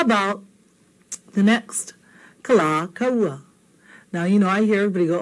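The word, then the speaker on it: Kalākaua: dig it too much if you called him Kalakaua. I think That's kind of, not nice, not pono, not good. Okay? It's kala kaua.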